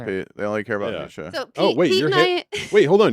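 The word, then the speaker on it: Necia: But you pronounce it Nisha. Kind of like Alicia.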